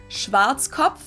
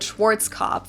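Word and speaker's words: Schwarzkopf: Schwartzkov. English native speakers usually pronounce it Schwarz cop or Schwartz cough or something along those lines.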